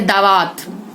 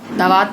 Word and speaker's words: दवात: जैसे दावात, दावात नहीं होता, दवात होता है, जिसमें से याही भरते हैं।